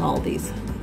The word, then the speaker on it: Aldi: It's really pronounced Aldi's, but it's spelled A-L-D-I.